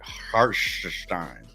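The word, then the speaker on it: Hartenstein: Randall and Har hartstein gotta say it like Doris Burke says it hartstein but uh Kyle likes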